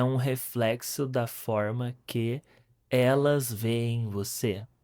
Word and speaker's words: reflexo: É um reflexo, is a reflection. Reflexo, reflexo. This is the sound. Like French.